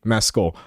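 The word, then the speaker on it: Mescal: Can we pronounce this correctly? Mecoll.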